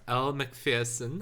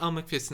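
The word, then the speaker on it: Elle Macpherson: i pronounced name right elle mcpherson i think it is it's not elmer pearson i always think it's all mcpherson uh it's whoever's the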